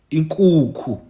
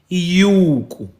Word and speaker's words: inkukhu: A chicken, inkukhu. Sometimes the same word may be pronounced as iyuku.